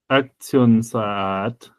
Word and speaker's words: Aktionsart: They have a long A followed by a reduced vowel for the ART, like the AR consonant sequence. So it's Aktionsart.